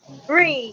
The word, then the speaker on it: Ree: Is it Ree? Ree, yes. It's Ree.